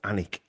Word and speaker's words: Alnwick: But the Sir Henry de Percy, first Baron of Alnwick Castle spelled Alnwick, but I think it's pronounced Alnwick Castle in Northumberland.